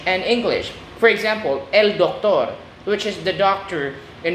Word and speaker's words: doctor: For example, el doctor, which is the doctor in English. El actor, which is the actor in Spanish. Spanish words ending in or carry stress that last syllable on the last syllable.